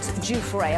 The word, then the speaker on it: Giuffre: Virginia Giuffre, a woman who accused No, it's not. Jeffrey Not Epstein that and one. Prince. Hold on. I got Giuffre, Stu. though. That's how you pronounce Giuffre.